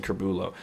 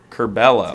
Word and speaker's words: Curbelo: the sumo kerbella corbello i don't know why i said curbulo holy crap i'm so bad with names pronunciations yeah curbelo i think you know